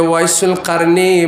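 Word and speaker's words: أويس القرني: ওয়াইসুল কারনি নাম শুনেছেন যাকে বলে শুদ্ধ ভাষা সহি উচ্চারণ হচ্ছে ওয়াইসুল কারনি উনার নাম হচ্ছে উনার বাবার নাম হচ্ছে আমের ইবনে আমের আল কারনি আল মুরাদী মুরাদ বংশের কারণ এলাকার হযরতে ওয়াইসুল কারনি মার ভক্ত ছিলেন আল্লাহর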